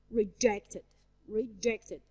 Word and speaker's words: reject: He rejected. I stress the second part of the word reject. Rejected. It's a verb, as you see.